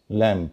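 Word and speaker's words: lamb: अधिकतर लोग अनजान है जैसे एल ए एमबी लैम मतलब मेमना सब जानते हैं एलम बी ल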